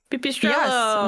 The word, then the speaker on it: Pipistrello: Pipistrello. Yes, which Backstage Pass did say that is the pronunciation according to Google, Pipistrello.